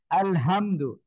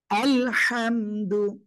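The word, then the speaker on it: الحمد: এজন্য অবশ্যই আপনাকে গলাটা চেপে মুখ দিয়ে হালকা বাতাস বের করে উচ্চারণ করতে হবে। আলহামদু, আলহামদু, একসাথে বলেন।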